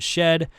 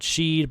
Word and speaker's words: Shed: Mcdana Hueghue, Pierce, and she and Shed. Almost said Sheed, but that's not how you say it.